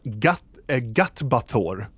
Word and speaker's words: Gatbathor: And it's pronounced Gatbathor. It means traitor.